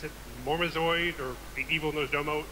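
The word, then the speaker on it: Murozond: of time we get to kill how you pronounce it mormozoid or the evil knows Domo murazon thank you in a five-man but Deathwing and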